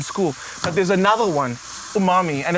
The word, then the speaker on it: umami: And again, the Worcester sauce adds that like intense umami flavor.